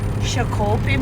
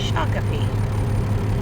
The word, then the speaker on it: Shakopee: Yeah, we're out here in Shakopee, Minnesota, don't you know? And before all you Minnesotans are like, it's not pronounced like that. I know. It's Shakopee.